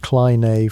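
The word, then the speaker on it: κλίνη: The Klein, pronounced Kleine for that authentic flair, wasn't limited to the bedroom.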